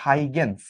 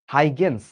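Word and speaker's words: Huygens: সেই তত্ত্বটা হচ্ছে তরঙ্গ তত্ত্ব এবং এটা দিয়ে গেছিল হচ্ছে হাইগেন্স। এখানে দন্তস্যটা কিন্তু অবশ্যই উচ্চারণ করতে হবে।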